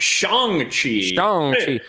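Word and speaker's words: Shang-Chi: i learned from this review is that it's pronounced shang chi i didn't know that i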